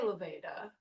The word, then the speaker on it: Laveda: idiosyncratic version but uh I would say Lvida. Is that acceptable? Um we well I mean yeah that's fine. Well what what do you call it like what what pronunciation you prefer? We say leved.